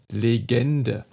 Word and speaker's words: Legende: lauter in einem ort das wort legende es beginnt auch hier mit einem offenen e dann schließt es sich entspannt es sich immer weiter legende am ende haben wir nur noch einen sogenannten nur lokal also ein fast verschluckten und eine unbewohnte and silbe legende lebende legende wegen